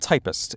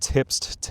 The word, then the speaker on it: Typst: The Typist video. First of all, this is pronounced typist like the profession, like somebody who types. This used to be a profession. It's not tipst, typest, or whatever.